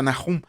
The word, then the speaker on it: Nahum: Nahum en el hebreo antiguo se pronuncia Nahum y que significa consuelo o consolación.